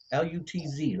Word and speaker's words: Lutz: No, actually, I'm in Lutz, is Lutz. where Yeah, I I'm know at, that. I or know that. Lutz. I'm always Lutz. Yeah, mispronouncing. Lutz. Yeah. Lutz, right?